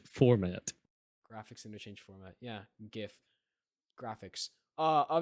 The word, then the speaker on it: GIF: Graphics interchange format yeah gif Graphics uh but apparently the creator of GIF said it was pronounced Jiff so no he did